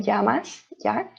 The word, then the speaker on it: llamas: lot of double l uh we pronounce it as a ye so it sounds like como te llamas here um it doesn't sound like an l so yeah double l sounds like uh yeah like saying yes mucho gusto you say